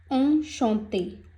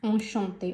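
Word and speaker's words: enchanté: तो next example ली है मैंने, ऑन शॉन्ते।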